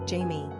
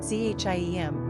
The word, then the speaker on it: Jaime: Alternately, Jaime is sometimes considered a variant of the English Jamie, a pet form of James, in which case it would be pronounced Jamie.